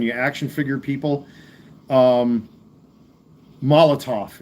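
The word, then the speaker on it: Molotow: Um, Molotov it's called. People don't know how to say it correctly. The W at the end is uh pronounced as a V, but this is a Molotov uh chrome marker.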